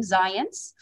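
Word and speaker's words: Zajonc: going to talk about comes from zions and yes that is in fact how you pronounce his name zions and uh joseph ledoux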